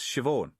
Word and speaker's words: Siobhan: Right you are, said it's pronounced Siobhan.